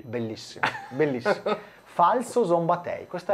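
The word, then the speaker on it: Falco Szombathely: posso dirlo alla bragagna puoi dirlo alla bragagna falso zomb tei bellissimo bellissimo falso zomb tei Questa è la pronuncia corretta di è chiaro che diremo Falco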